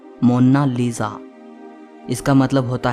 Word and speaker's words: Mona Lisa: कोई इसे मोनालिसा कहता है तो कोई मोनालिसा कहता है, लेकिन इटालियन में इसकी करेक्ट प्रोनाउंसिएशन है मोनालिसा।